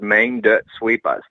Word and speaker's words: Maine Dert Sweepahs: you that are down south so you can pronounce it uh properly so it's main dirt sweepers there you go man see yeah i love